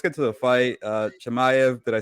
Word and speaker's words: Chimaev: you know let's get to the fight uh chemiev did i say it right yes you got